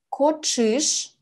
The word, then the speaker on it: коӵыш: Ч с двумя точками звучит как сочетание тш. Например, коӵыш "кошка".